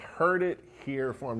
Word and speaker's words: Herd It Here Farm: One of the other locations is, and I love this name, it's called Herd It Here Farm. Now, I didn't mispronounce that, herd it, as in cattle herd.